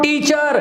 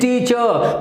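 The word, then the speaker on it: teacher: तो आज के बाद ध्यान रखना है, अगर ई आर सफिक्स किसी शब्द के बाद आती है और आप उस शब्द को इंडिविजुअली बोलते हैं तो ध्यान रखना कभी भी ई आर को प्रोनाउंस नहीं किया जाएगा, आर पे खत्म हो जाएगी साउंड।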